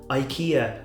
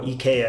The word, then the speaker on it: IKEA: At Christmas time, IKEA, or IKEA I think is how it's actually pronounced, IKEA, do it these like thin, like Christmas biscuits.